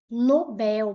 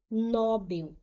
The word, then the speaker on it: Nobel: As pessoas falam Nobel, prêmio Nobel. Não é prêmio Nobel, é prêmio Nobel. Nobel, a sílaba tônica é a última. Ela é uma palavra coxítona, tá gente? Não é palavra paroxítona, ela é oxítona.